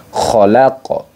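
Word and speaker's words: خَلَقَ: disebut dengan Qalqalah Kubro jadi Bacanya adalah khalaqo khalaqo nah seperti itu jadi dibaca Qalqalah Kubro Bagaimana cara membacanya yaitu di pantulkan ke makraj aslinya Nah khqo khqo bukan KH tapi khqo khqo bukan KH KH Nah bukan seperti itu teman-teman jadi itu yang menjadi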